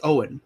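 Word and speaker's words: Eoin: who wrote Artemis Fowl where it's e-o-i-n oh yeah Ian yeah yeah it went I can't remember the pronunciation of it it's it's Owen it's Owen right yeah yeah o-w-e-n is anglicized okay it's like eoi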